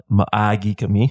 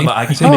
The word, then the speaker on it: maagi kami: you also can use maagi kami. You have to, elongate it, because if you don't say it right, you're pretty much telling everyone you're homosexual. I see. Maagi kami, maagi kami, and then